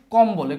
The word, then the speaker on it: কম্বল: অর্থাৎ এই কম্বল এই মও থাকবে বও থাকবে।